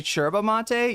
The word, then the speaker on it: yerba mate: and I know also somebody's going to say cherba mate. Yeah, that is the uh what is that? The uh Argentine pronunciation of uh for some reason our Argentinian Spanish a little bit different, right? It's a those Y's turn into CH.